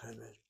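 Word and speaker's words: חמד: Semed chemed. And both words get the accent on the first syllable.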